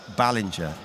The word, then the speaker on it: Ballinger: it right now man we've just had it confirmed right that uh Ballinger is how it is pronounced so this goes out to to all the people online confirmed that's what everyone was telling us we were saying it wrong that's yeah whoever came